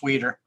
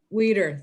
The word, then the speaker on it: Weider: That's Weeder. Weider, thank you. All right, I was doing the German pronunciation.